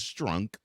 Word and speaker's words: Strunk: Adams Strunk and yes I'm not mispronouncing her last name it is Strunk she did not want